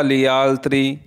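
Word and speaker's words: gli altri: Number 4 जी, दूसरों की सुनो, अस्कोल्ता लियाल्त्री कि दूजिया नहीं सुन, मेरी ना सुन। अस्कोल्ता सुनो, लियाल्त्री ये जो जी है ये साइलेंट है।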